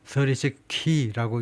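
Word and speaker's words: 36Kr: 거기에서 나온 단어라고 그러는데 하여튼 그래서 발음이 크가 아니고 36 키라고 읽는다고 그러는데 하여튼 이 인터뷰에서 그렇게 말을 했다는 겁니다.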